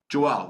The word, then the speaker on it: Joelle: Joelle, that rhymes with Noel.